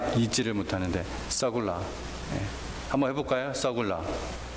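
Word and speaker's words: סגולה: 서굴라. 세굴라 혹은 서굴라, 발음이 그렇습니다.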